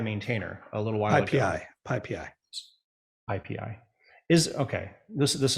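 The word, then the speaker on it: PyPy: packages um right and the project which you would pronounce Pi Pi is spelled py py aha which is an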